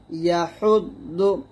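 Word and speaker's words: يحض: আইন ওয়ালা ইয়াহুদ্দু আলা ইয়াহুদ্দু এখানে হুদ্দু বলবেন না এই হাটা হা না এটা দদটা দালের মতো করবেন না হা এবং দদ দুটো উচ্চারণ সুন্দর হবে ওয়ালা ইয়াহুদ্দু আলা তাআমিল মিসকিন।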